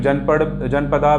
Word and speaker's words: जनपद: उसको इंग्लिश में जनपदा भी बोलते हैं, महाजनपदास, जनपदा, बट उसका सही प्रोनाउंसिएशन है जनपद।